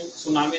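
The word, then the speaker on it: tsunami: इसके आगे टी लिखा हुआ रहता है, टी साइलेंट है, टी सुनामी, सुनामी नहीं कहते इसको, ओनली इसका जो प्रोनाउंसिएशन है वो सुनामी रहता है।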